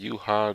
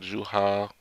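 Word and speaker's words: Yhwach: Now, like I say, it's however you pronounce it, Yuha, Juha, or it's gonna go to however you feel most comfortable pronouncing it.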